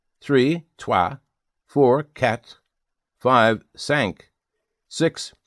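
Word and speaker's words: cinq: Five sank six cease.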